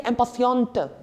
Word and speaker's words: impatiente: Like, remember, when E gets added up after the last consonant, the conjugation of that consonant gets even more emphasized. Otherwise, we don't pronounce the last consonant, like impatient. We don't say the T at the end. But the moment an extra E gets added up right there, we say impatiente.